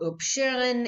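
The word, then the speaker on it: upsherin: haircut is known as oops sharing OOP shooting and it is an Aramaic word and or OOP Sharon if you're gonna pronounce it kind of with a Yiddish pronunciation parents distribute wine and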